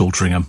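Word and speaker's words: Altrincham: the deams closing altringham I think it's pronounced altering them isn't it yeah great Manchester Birmingham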